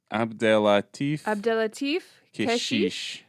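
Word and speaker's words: Abdellatif Kechiche: Abdelatif Keshish.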